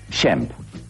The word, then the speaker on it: Shemp: En realidad se llamaba Shmuel o Samuel, pero parece ser que la madre, con su acento europeo de inmigrante, no lo pronunciaba bien y decía Shem, Shem, y el Sham quedó en Shem.